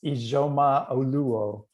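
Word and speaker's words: Ijeoma Oluo: Yes, Zora, can you pronounce her name? It's Ijoma Oluo, yes.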